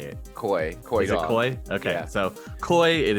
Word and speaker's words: Coy: Is it Koi?